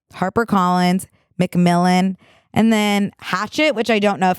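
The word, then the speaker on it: Hachette: it izy do now it's like giving French h a c h e tte which makes me think maybe hatet but I think it's ET and in Hatchet well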